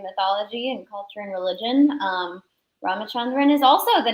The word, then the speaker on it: Ramachandran: Ramachandran.